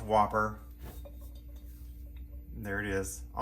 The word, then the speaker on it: WOPR: the comments section um it's pronounced whopper and there it is